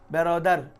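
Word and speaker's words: برادر: মানে মা ইংলিশে বেরদার বেরদার মানে ভাই বেরদার আধুনিক উচ্চারণে কি রে বেরোদার আর আমাদের ভারতীয় উপমহাদেশের উচ্চারণে ব্রাদার ব্রাদারানে ইসলাম বলে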